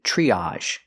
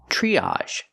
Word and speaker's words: triage: and this word is triage triage TR R makes the chch sound like chicken plus the r CH tree use the long e like green beans triage again we have the